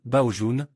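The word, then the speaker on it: 宝骏: Il faut lire baoun et cela signifie excellente roteur.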